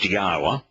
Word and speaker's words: Yahowah: You'll find Yahweh's name not transliterated as Yahowah, which the four letters that comprise his name, there are four vowels, and they are pronounced Yahowah.